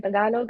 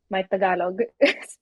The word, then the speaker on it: Tagalog: I uh I for the longest time I didn't know it was pronounced tagalog. I thought it tagalog. I thought I thought it was spelled like tagalog like tag along like you're tagging along somewhere.